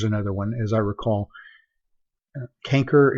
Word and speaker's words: canker: one as I recall canker is the way that CH a and C re is the way you're going to hear that pronounced not shanker as it is in your book however if you were